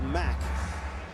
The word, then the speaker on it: Mack: I'll just stick with Mack. I can handle the Mack. That works. It's like a Mack truck.